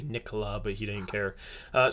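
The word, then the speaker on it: Nicolas Batum: names yeah yeah because it was like nicholas batum for the longest time and then apparently you know it was supposed to be nicola but he didn't care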